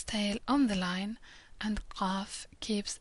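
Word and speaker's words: ق: Qaf is similar to Q, but pronounced further down in the throat. Qaf, like a little clicking sound almost.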